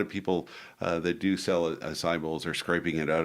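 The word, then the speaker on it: açaí: is and a lot of people call it a chi and they mispronounce it's pronounced acai and and basically the acai berry is a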